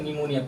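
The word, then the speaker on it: pneumonia: जैसे और दूसरा भी रूल ये है जैसे निमोनिया पी औरन एक साथ मिलकर आता है ना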